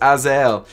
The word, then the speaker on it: Azael: The name of this shoe is pronounced Azael.